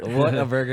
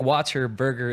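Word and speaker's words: Whataburger: water B water burer water water a bur what a burger yeah I thought it was water Like Water Burger for a while then I I was like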